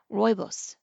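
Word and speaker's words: rooibos: Googled it sure enough she was pronouncing it incorrectly it is pronounced Roos Michelle admonished herself for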